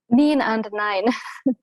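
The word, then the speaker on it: Niin & näin: How do you pronounce that? Niin and Nine.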